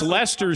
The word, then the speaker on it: Leicester: I mean, for somebody who is just a growing soccer fan, I just love that pronunciation. So and it's Leicester City.